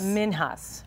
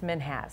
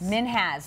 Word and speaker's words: Minhas: So again, I think most people think it's Minhas. But yeah. They said it's Minhas. Minhas, like has.